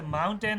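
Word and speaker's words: mountain: जो होता है ना हम जो टी को प्रोनाउंस नहीं करते जो उसे माउंटेन है ना हम तो टेन बोलते हैं ना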